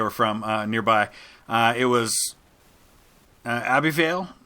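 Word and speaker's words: Ebbw Vale: from nearby it was a B Vale Minoo if I'm pronouncing that right it's EB BW v-a-l-e it was the name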